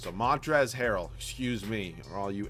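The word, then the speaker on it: Montrezl: are yaw at me because there's no l in his name well there is you just don't pronounce it so Montres Herold excuse me all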